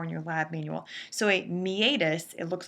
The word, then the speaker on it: meatus: you're responsible for in your lab manual so a meatus it looks like the word meetus but it's pronounced mius would essentially be the space beneath